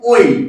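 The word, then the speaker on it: ঐ: এর উচ্চারণটা হয়ে যাবে কিন্তু ওই। কি বললাম? এর উচ্চারণটা ওই।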